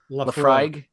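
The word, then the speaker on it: Laphroaig: This is how do you pronounce this, Paul? Do you even know? Lafroig.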